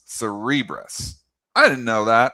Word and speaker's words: Cerebras: Well, Cere- the the big one tonight and uh CNBC says it's not Cerebrus, it's Cerebras.